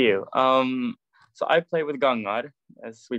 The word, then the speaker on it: Gangar: So I play with Gangar, as we pronounce it in Norway, and we play Norwegian folk rock.